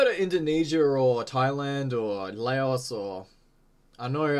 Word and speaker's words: Laos: Indonesia or Thailand or Laos or I know I think technically it's pronounced Lao actually I'm not yeah well